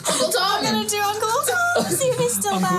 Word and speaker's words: Thom: it's spelled with it's THOM. Yeah, cool. Tom.